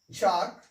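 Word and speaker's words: chalk: और एम से पहले एल हो, तो उसका उच्चारण नहीं करना है। इसको पढ़ते हैं एम्स, चाक, टॉक, बाम, ठीक है ना।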